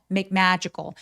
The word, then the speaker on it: magical: magical 할 때 magical 아니고 자 하면서 입술을 내밀면 정말 또렷한 소리가 날 거예요.